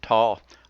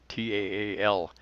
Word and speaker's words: Taal: TAAL, I don't say that right. You pronounce both A's. T-A-A-L.